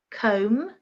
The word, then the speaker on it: comb: Number 1, comb, silent B.